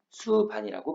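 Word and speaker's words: 숲안: 적용한다는 얘기는 피읍은 비읍으로 가기로 약속을 했네요. 그러면 숲, 안. 비어있으니까 연음하라고 했으니 수반이라고 발음을 해주면 돼요.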